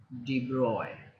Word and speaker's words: de Broglie: as something like de Broglie but but it's pronounced D boy okay this is how just d-boy this how